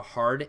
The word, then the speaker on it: ح: is the first one this is more of a hard H so think of the word hard hard you're pronouncing that H hard and it's just called